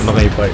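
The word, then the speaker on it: お腹いっぱい: Nakaipai. That means your stomach's full. Nakepai? Oh, nakaipai. Nakaipai? I'm so nakaipai. Why are you saying You're already saying it already. Nakaipai.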